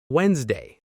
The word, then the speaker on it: Wednesday: Word number three, Wednesday.